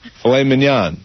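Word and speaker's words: filet mignon: Filet manan.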